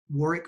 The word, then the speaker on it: Warwick: On LinkedIn, you'll find all Crucible Leadership information at Warwick Fairfax. Warwick's name is spelled with a silent W in the middle, W-A-R-W-I-C-K. You can find it on LinkedIn at Warwick Fairfax.